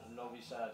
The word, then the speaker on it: Novi Sad: That was in Novi Sad, Serbia. Is that right? Did I pronounce Yeah, that?